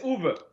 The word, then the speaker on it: Uwe: Yeah, it's Uwe. All right. Okay. Uwe. All right. The mystery is solved. Or we could just call you Dr. Boll, too, if you want. I like that. Well, I think Uwe is okay.